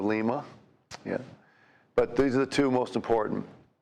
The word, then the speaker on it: Lima: Got lots of variations of pronunciations, but there's also a Lima, Ohio instead of Lima, yeah.